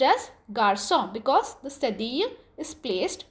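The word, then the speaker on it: garçon: the pronunciation of the word instead of K garkon it's pronounced as Garcon because the study is placed on the letter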